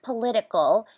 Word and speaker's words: political: stages with the word political you have to stress the second syllable I agree and the don't get confused with the word politics where you have to stress the first syllable when did you get